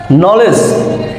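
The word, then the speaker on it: knowledge: কে এন ও ডব্লিউ নো নো অর্থ জানা নলেজ খুব পরিচিত একটা শব্দ যে আমরা এটাকে ছোটবেলা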